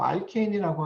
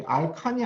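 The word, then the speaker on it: alkane: 그래서 이 알케인, 그래서 알케인이라고 하면은 먼저 여기 알칸이 아니라 여기 A를 여기 N으로 이렇게 그 이제 발음을 하는 거예요. 그래서 알케인이라고 하면은 그 리니어한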